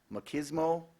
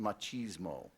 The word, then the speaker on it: machismo: word is as follows it has two main pronunciations it has several I'm only gonna give you the first two machismo also pronounced machismo machismo also pronounced machismo